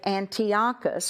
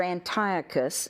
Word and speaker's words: Antiochus: the the shadow that Antiochus our Antiochus either way you can pronounce it both ways that he is